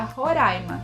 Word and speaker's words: Roraima: é roraima ou roraima de acordo com a origem do nome seria roraima que significaria morro verde porém muitos professores de